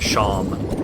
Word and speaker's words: Seam: That's also the basis for a joke in Deltarune of how there is a plush character named Seam, S-E-A-M, but it's pronounced Sham.